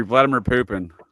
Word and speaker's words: Vladimir Putin: Vladimir Putin is how it's pronounced though, sir.